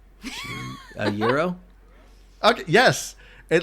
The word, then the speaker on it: gyro: pretentious so she's like do I say gyro and I'm like no it's Euro like that's that's how you pronounce it I also like I